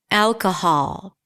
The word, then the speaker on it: alcohol: And in this case, it's the Oz and father. Alcohol.